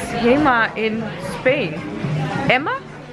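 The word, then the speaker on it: HEMA: how would they pronounce himma in Spain Emma I don't think they pronounce the h so it's like Emma actually I just asked someone who works here and and he said Emma Emma for all my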